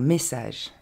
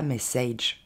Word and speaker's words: message: On commence avec un message. On ne dira pas message.